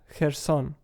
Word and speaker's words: Kherson: city of her son the pronunciation in in Ukrainian as an initial consonant that does not exist in in English it is called a voiceless wheeler fricative the closest thing in English you may have is in the syllable